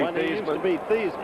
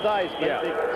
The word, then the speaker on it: Theismann: You didn't find my story about Theismann interesting at all when he used to be Thiesman? And he came in. It to Theismann, so it would rhyme with Heisman.